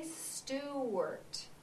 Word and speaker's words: Stewart: one more time steart now let's count the syllables steart did you see how I did that do it one more time steart how many syllables did I have yep you're right I had two Mrs Ola do you